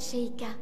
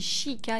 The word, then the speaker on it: Sheikah: Alors normalement on dit Sheikah et pas Sheikah, mais... Après ça c'est toujours des petits défauts de traduction hein, au niveau de la prononciation.